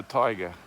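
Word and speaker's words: taiga: And this endless forest is called the tiger.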